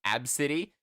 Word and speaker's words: ABCD: I heard of once it was like pronounced AB City but they spelled it ABCD it's like that's just